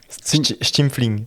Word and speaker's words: Stimpfling: Stimfling. Stimfling. Ouais, à l'alsacienne, enfin à l'allemande, tu vois.